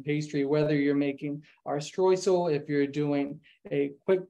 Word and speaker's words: Streusel: We'll start with the first part, the streusel, or if I pronounce it streusel, same word. I learned it from a German chef, so he always says streusel. So comes out the German word.